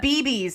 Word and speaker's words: CBeebies: Just call isn't it BBs, like babies.